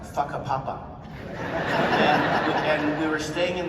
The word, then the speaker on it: Whakapapa: The thing about how you spell it, but it's pronounced Whakapapa.